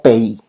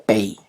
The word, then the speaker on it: pays: Países se pronuncia como pays, ok, se escribe como país, pero se pronuncia pays, ok.